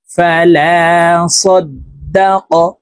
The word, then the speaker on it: فلا صدق: ফালা সাদ্দাক, তাসদীদ ওয়ালা হরফ দুইবার উচ্চারণ হবে, একবার পূর্বের হরকতের সঙ্গে আরেকবার নিজ হরকতের উচ্চারণ হবে।